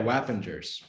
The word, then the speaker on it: Wappingers: definitely using it as is it whapping jurors falls yeah wappingers well avengers happens yeah weapon it's only three syllables um oh they got